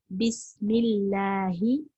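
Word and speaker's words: بسم الله: அப்ப பிஸ்மில்லாஹி இந்த இடத்துலயும் அதே போல இதுக்கு முன்னாடி நம்ம இஸ்தியாதால பார்த்தோம்ல அதே மாதிரிதான் தான் வருது.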